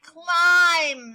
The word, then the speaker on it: climb: claus okay all right climb remember the b is silent so climb sign and